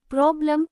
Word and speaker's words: problem: Problem, problem. The second syllable, lem, is unstressed and sounds like a.